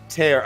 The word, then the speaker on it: Tear: Dan, it's pronounced tear.